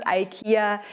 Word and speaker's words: IKEA: By the way, we pronounce IKEA IKEA.